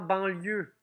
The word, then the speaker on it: banlieue: Dans banlieue, on a un E à la fin qu'on n'entend pas.